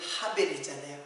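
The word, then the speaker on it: הבל: 아 나는 하대리구나 하되 아벨이 이름이 하벨이잖아요 아벨의 그 히브리 발음이 하벨이잖아요 하벨이라는 말은 헛되다 허무하다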